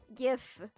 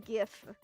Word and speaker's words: GIF: How to pronounce GIF? GIF. Some people pronounce it GIF for some reason, but it's a GIF.